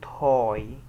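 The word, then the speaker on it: high: كذا نطق في الانجلش لو جت كده في الاخر ساعات لا تنطق زي كلمه هاي هاي الجي و اتش كانها مش موجوده اصلا هاي هاي هاي الجي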